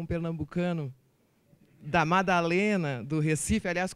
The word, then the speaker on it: Recife: pernambucano da Madalena, do Recife, aliás, como diz meu sogro, Recife, não Recife, né? Vamos pronunciar corretamente.